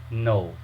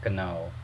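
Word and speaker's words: know: So the actual pronunciation of this word is no, not kano.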